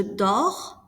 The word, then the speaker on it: dors: Je dors, tu dors, il dort. Notice that we do not pronounce the S or the T.